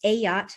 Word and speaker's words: Ayotte: name is ayotte pronounced a yacht like a large boat and i'm the academic